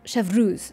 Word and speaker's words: Chevreuse: It's like shove, which I can't do, so I'm just gonna go chev. But I'm right about this. It should be ruse, chevreuse.